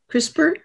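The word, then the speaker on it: CRISPR: this thing called crisper is that how you pronounce it crisper yes yeah yes it goes in and and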